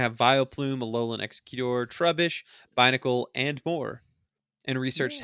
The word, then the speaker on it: Binacle: So having more like a week from now, not as necessary, but Binacle. still. Binacle, you think? Is that how you say it? Mm-hmm. Binacle.